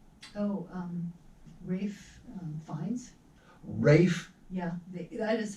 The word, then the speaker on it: Ralph: And starring Ralph, Oh, Rafe Fiennes? Rafe, Yeah, that is how he it's pronounces got an it.